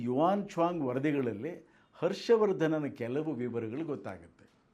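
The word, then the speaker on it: 玄奘: Hiuen Tsang ಅಂತ ಹಿಂದೆ ಹೇಳ್ತಾ ಇದ್ದರು, ಸರಿಯಾದ ಉಚ್ಚಾರಣೆ ಯುವಾನ್ ಚ್ವಾಂಗ್ ಅಂತ.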